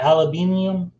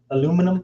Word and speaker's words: aluminium: cut what sorry what do you call it aluminium aluminum the aluminum yep aluminum there you go aluminium